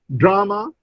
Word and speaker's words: drama: In drama, the stress is on the first syllable, drama.